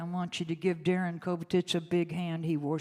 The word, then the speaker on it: Kobetich: Would you put your hands together for Sharon Cadillac Blue Walker and Darrin Kobetich?